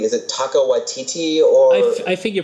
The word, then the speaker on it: Taika Waititi: Is it Taika Waititi or? I think you pronounce it correctly.